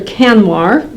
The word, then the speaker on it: Kanwar: Kanwar.